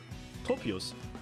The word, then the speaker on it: Tropius: Tropicus oder wie es ausgesprochen wird? Tropius.